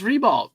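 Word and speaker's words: Ribault: But my grandma, that's how you say it. Dub it. Yeah. It's Rebalt. Rebalt. Rebalt High School.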